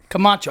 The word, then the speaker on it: Camacho: Camacho.